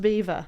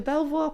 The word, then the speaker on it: Belvoir: We just But that's pronounced Beaver. Yeah. So yeah, I was going to Belvoir Park and apparently that's not Belvoir.